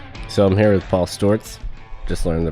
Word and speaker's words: Sztorc: So I'm here with Paul Stewarts. Just learn the correct pronunciation.